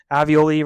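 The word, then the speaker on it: alveoli: Um, avioli rhymes with ravioli.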